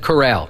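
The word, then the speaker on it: chorale: riding or something well I had to look up the pronunciation c h o r a l e and it said Corral huh shout out to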